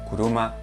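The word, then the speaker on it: 車: sabemos significa yo y este kanji de aquí se lee kuruma pluma significa coche como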